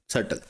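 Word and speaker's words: subtle: सटल। ठीक है? सबल नहीं सल। इसमें बी साइलेंट होता है। आपने बी को प्रोनाउंस नहीं करना।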